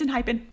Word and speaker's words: Enhypen: languages you know but this one it's in hypen yeah I feel like with for this one we do typically go with the Korean pronunciation they debuted November 30th